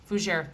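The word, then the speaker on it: fougère: this is described as a foosiery for fujier fujier that's how you say it fouger fragrance so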